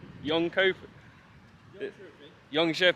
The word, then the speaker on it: Jönköping: watch a film and then we'll be in young coping I'm nervous but excited but nervous hello so now how how did you pronounce this place young young cop Young Shing yes okay we are in this County now